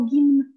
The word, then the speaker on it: гимн: Attends, comment est-ce que tu veux que je prononce un M et un N? Oh, mais tu viens de le faire parfaitement, gimn.